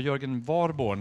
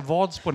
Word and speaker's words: Jörgen Warborn: Så att, välkommen upp Per-Arne Håkansson, riksdagsledamot för Socialdemokraterna, och Jörgen Warborn, uttalar jag rätt? Ja. Från Moderaterna. Jag höll på att säga Vadsborn hela tiden, för jag har en kompis som heter Vadsborn.